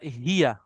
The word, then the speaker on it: هي: अच्छा, अब आप लोगों ने तीन प्रोनाउंस याद करने हैं। एक है अना, बोले अना। أنا أنا हुआ هو और हिया, هي ठीक है।